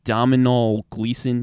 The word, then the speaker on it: Domhnall Gleeson: I can't really pronounce his name. It's Domhnall Gleeson.